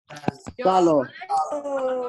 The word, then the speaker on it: salgo: Salgo. Salgo. There's a G there. It's like tengo.